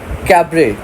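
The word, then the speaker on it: cabaret: Next we have मॉलन rogue is अ कैबरे located in. अब ये कैबरे क्या होता है? इसका T साइलेंट है, ठीक है।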